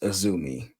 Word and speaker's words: Azumi: It's and it's pronounced Azumi.